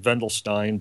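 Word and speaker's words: Wendelstein: it's uh starts with a w they they pronounce it vendelin but uh w n d L Stein do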